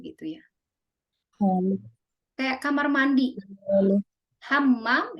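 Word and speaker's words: حمّام: Hammam itu kamar mandi. Kalau hamam dia tidak pakai tasjid jadi merpati.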